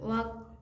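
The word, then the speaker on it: walk: वॉक, क्योंकि एल को ही कब बोलता है? वॉक, एल साइलेंट है।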